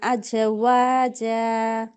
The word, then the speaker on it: أزواجا: হাব্বাও ওয়া নাবাতা হ্যাঁ, তারপর ওয়া খলাকনাকুম আজওয়াজা আজওয়াজা। ঝা উচ্চারণটা পারফেক্ট হবে। আজ আজ ওয়াজা। আজওয়াজা, প্রথমটা আজওয়াজা ঝা, আজ তারপরটা হচ্ছে জিম। ওয়াজা। হ্যাঁ, প্রথমটা হচ্ছে ঝা, আর দ্বিতীয়টা হচ্ছে জিম, খেয়াল করে পড়বেন।